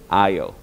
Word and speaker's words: aisle: 이때 S는 묵음이에요. Ice 아니고 aisle.